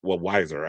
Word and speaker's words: Weiser: Colorado Attorney General Phil Weiser also said Weiser, I think is how you say his name,